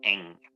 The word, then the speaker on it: Ng: that, not only that, um the Marlins hired the woman GM, Kim Kim whatever, Ing, right, NG, but she pronounces it Ing.